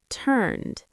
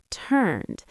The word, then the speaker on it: turned: First, turned, turned. That's a D ending.